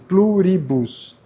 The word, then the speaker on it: Pluribus: Pluribus.